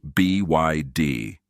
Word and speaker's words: BYD: It is not by D, by the way. It is B YD.